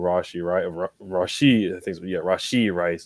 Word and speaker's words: Rashee Rice: You saw Pat Mahomes going back and forth with Rashee Rice is how you pronounce it.